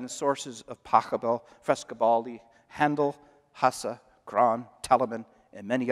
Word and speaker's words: Handel: It was always pronounced Handel until Americans got a hold of it. Now it's Handel, but it should be Handel.